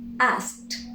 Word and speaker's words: asked: We add the ed. We do not pronounce the e. We simply produce t. Asked, asked.